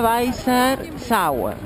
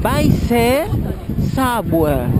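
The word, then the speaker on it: Weißer Zauber: Entonces, la B doble obviamente se pronuncia como si fuera una B chica. La EI es AI. Y la otra B, que parece una B grande, es una EZ.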